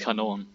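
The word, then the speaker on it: Kanone: the way, and also how it's not really canon, it's Kanon.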